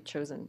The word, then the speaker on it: Joseon: You know, other ethnic Koreans are known as Joseon people. So yeah, in American pronunciation be chosen.